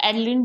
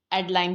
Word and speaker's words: Adeline: इसको एडलिन भी कहते हैं एंड एडलाइन भी जो है वो कहा जाता है।